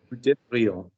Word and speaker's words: devrions: Luke, nous devrions.